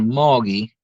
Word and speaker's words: Mulga: Oh yeah, that song's called Moggy, and Moggy. it's not spelled like that though. It's spelled Mulga.